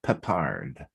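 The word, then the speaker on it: Peppard: 80s yes yes and last name uh pronounced more like pepard and breakfast tiffany's also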